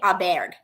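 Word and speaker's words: Åberg: I think I think they asked him on full swing how you pronounce it he said Ludvig Aber it was very cool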